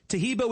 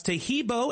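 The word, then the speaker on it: Taheebo: Tahibo is spelled T like Tom, AHEEB like boy. Oh, that's Tahibo, and then continue with the word tea, and then the word club.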